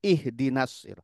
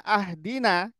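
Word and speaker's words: اهدنا: Ti itu berubah jauh ihdinasiratal mustaqim ih pakai Hamzah wasalnya kasrah ihdinas ihdinasir kita bacanya ahdina artinya berubah ihdina berilah petunjuk kepada kami asiratal mustaqim jalan yang lurus kita bacanya ahdiniratal mustaqim ahdina artinya beri hadiah kepadaku beri hadiah dengan Beri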